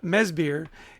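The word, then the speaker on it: Mads Bjerg: he's Danish and so even though it's uh mesir it's spelled m a d s b j e r g so don't try to sound it out that won't help you no not to close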